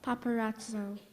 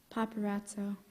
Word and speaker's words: paparazzo: into the competition now paparazzo definition a freelance photographer who aggressively pursues celebrities in order to take candid photographs are there any other alternate pronunciations there are not paparazzo p a p p